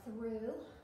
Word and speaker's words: through: then your challenge words are through with the silent GH and science with this